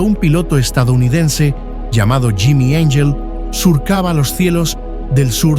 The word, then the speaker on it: Angel: piloto estadounidense llamado Jimmy Angel surcaba los cielos del sur de Venezuela. Jimmy no buscaba ángeles ni santos y su apellido se pronunciaba en inglés, no en español.